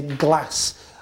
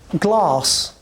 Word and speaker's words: glass: Joe glass we say glass and it's a northern way of speaking it's a northern way of pronunciation glass right well I got